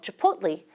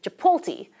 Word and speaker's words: Chipotle: Or when English speakers want to buy a burrito from the chain called Chipotle, we often metathesize the T and L and say Chipotle, because that TL sequence is rare in English.